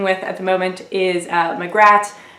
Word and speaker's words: Magrat: at the moment is magrat which is how i pronounce her name I understand different people pronounce it differently and it works a lot better if you have a British accent since it's a misspelling of Margaret nanny ogg and Granny